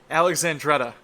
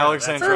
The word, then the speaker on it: Alexandretta: It's Alexandretta. That's it. Alexandria. Alexandretta. That's how it's For pronounced, what?